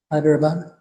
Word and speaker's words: Hyderabad: I wanted to mention that uh Mohini um was born in uh Hyderabad I guess is that way you pronounce it? Yes. Hyderabad.